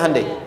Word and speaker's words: Hyundai: Sehingga ketika di sana bikin Honda, sini Hande Hyundai kan dibacanya Hande ya kan?